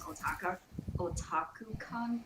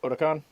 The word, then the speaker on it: Otakon: Yeah, I mean, as long as we don't do it the same way as OtakuCon did, Otakon? then Uh-oh. sorry, what? Otakon? That's how you pronounce it?